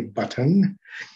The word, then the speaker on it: button: global stop is um if you say the word button obviously the word button is spelled with two t's right and if you were in england you would probably say button but here in america we uh change the two t's and it becomes a global stop so